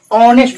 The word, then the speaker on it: honest: जैसे कहते हैं बाबू HONEST, रॉन्ग, ऑनेस्ट होता है, वो होनेस्ट नहीं होता है, ऑनेस्ट।